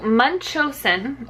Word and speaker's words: Munchausen: me look Google's taking forever our okay so Munchausen is how you pronounce it and it's basically where the parent